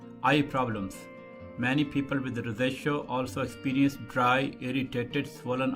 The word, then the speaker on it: rosacea: Some people call it as a rosacea, but usually it's better pronounced as rosacea.